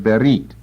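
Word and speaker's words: berith: is how it's pronounced berrit don't give it a th sound I'm gonna go ahead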